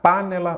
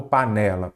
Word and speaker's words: panela: lá par né lá qual que é a sílaba tônica panella panela ou panela panela então é a penúltima aí você já sabe